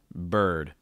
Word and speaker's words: bird: last word bird bird that er sound tends to be a tricky sound so again make sure that the back of your tongue is high enough and curling up the front of your tongue bird really strong r sound after the b okay bird also know